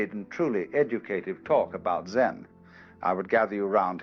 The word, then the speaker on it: Zen: minute silence so then this word zen is Japanese way of pronouncing the Chinese word chan which in turn is